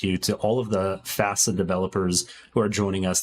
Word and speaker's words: FASA: Hey, real quick, it's FASA. Rhymes with That's FASA.